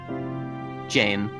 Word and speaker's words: Jan: times we mispronounced it, he didn't mind us calling him Jan instead of his actual name. So I'm finally gonna pronounce his name correctly. Jane.